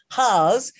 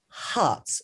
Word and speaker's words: Harz: i called it south hars because it is actually spelt h-a-r-z but dr chris actually said to me it's pronounced hearts so south hearts potash